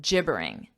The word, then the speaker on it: gibbering: wreck before I'm assuming so notice the pronunciation J it's a j sound gibbering gibbering when you Jibber this